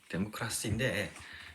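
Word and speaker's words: δημοκρατία: 어원이 민주주의와 데모스, 그다음에 크라시스, 뭐 이런 거. 크라토스인가? 뭐 이렇게 크라토스가 이 영어 발음 그래요? 데모크라시인데 데모스, 이게 데모스가 민중이에요. 크라토스라는 데서 유명한 크라시는 이거 지배, 민중 지배라는 얘기야.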